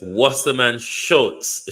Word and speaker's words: Wasserman Schultz: I think somebody sent me the pronunciation. Let me listen. Okay, so it's Wasserman Schultz.